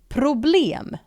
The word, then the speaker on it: problem: And it is spelled exactly identical as the English word for problem, but in Sweden we pronounce it this way: problem. Problem.